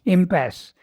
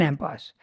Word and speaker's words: impasse: do you pronounce impasse impasse okay in the French word yeah it didn't Okay